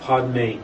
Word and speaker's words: Padme: we usually do, but the Padme is just pronounced Padme, as opposed to Om and then Ma.